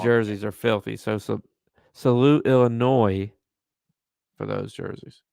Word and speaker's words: Illinois: So salute Illinois for those jerseys. It's pronounced Illinois. I don't support the French.